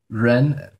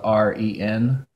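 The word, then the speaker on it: 人: an English art but I've also heard people pronounce it more like a J sound like Jen so that one's the tough and Robert Downey jr.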